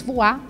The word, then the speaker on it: Voix: Voex, com a pronúncia em francês voar, significa voz.